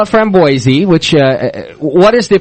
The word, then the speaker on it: framboise: what's the proper pronunciation so you actually do pronounce the end of the word yeah we do see